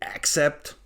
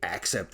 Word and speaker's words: Accept: the native speakers call them accept the Germans say accept of course except it is correct the pronunciation is not on the a the German metal freaks they say hey accept is so great but